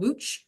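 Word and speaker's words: Łódź: town called it's called Wooch. It's spelled uh L O DZ and it's got a couple of little accent squiggles on it, but it's pronounced Wooch.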